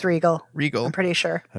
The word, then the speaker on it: Riegel: Yes, it's Regal. Regal. I'm pretty sure. I mean, otherwise I'm pronouncing my name incorrectly.